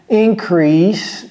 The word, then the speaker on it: increase: de U là-bas, ici, increase, bien entendu, prononcé comme si c'était 2 S, bonus, ce n'est pas